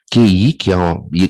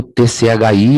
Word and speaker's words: Qi: A pronúncia, como eu falei, pode ser feito com QI, ou KI, que é uma pronúncia mais japonesa, tá? E o TCHI, ou CHI, o Ti, que é uma pronúncia mais chinesa.